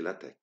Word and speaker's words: LaTeX: elle atteint x mais on doit se prononcer la tech le langage la tête